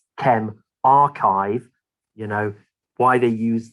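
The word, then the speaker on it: ChemRxiv: called chem rxiv is a symbol it's actually pronounced chem archive you know why they use these letters is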